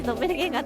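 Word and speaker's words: ドッペルゲンガー: ドッペルゲンガー死神死神と書いてドッペルゲンガーって読ますな。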